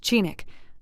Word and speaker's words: Chinook: It is 10 weeks yesterday since we arrived at Golovin, or Chinook, as is the Eskimo name for the settlement, and pronounced Chinook, a creek of the same name flowing into the bay a mile east of this camp.